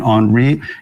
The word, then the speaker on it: Henri: As you just heard, my name is Henri. That's how you pronounce it if you can, Henri. If you're not French, I am French speaking.